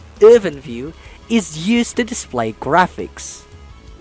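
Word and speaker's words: IrfanView: EwinView, yes, it's pronounced as EwinView, is used to display graphics.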